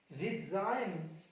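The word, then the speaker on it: resign: देखिए ये रहा आपका एन, इससे पहले आया जी, पढ़ेंगे इसको साइन, डिजाइन, रिजाइन, फॉरनर, फॉरनर, जी नहीं पढ़ेंगे, एन से पहले आ रहा, फॉरनर का मतलब विदेशी, बिल्कुल।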